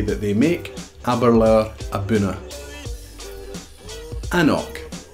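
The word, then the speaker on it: anCnoc: here we go the top 30 most commonly mispronounced Scotch whisky terms haberler and the fantastic whiskey that they make haberler abouna an oak an oak is a range of whiskies produced and then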